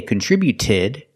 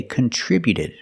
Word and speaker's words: contributed: we see with contributed the T before the Ed is between vowels so it's a fast D we don't say contributed we say contributed contributed he contributed to